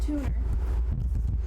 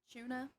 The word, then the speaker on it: Tuner: So there's a guy on the server, and his name is Tuner. But because like one of the guides was British, and he pronounced his name as Tuna.